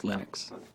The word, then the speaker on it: Linux: And I really don't care how people pronounce my name, but Linux is always Linux.